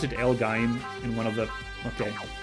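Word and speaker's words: L-Gaim: Elgame gonna catch a kill here. Or was it Elgaim? Did someone pronounce it Elgaim in one of the...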